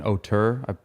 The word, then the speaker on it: auteur: And I came across this word, an auteur. I think it's pronounced auteur.